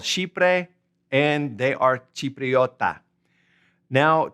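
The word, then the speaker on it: Chipre: It is called shipre and they are chipriota.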